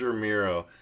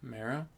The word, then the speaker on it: Romero: george romero no stephen king why why george romero the name you mispronounced to his face ballsy bro mara and romero yeah romero bro he keeps saying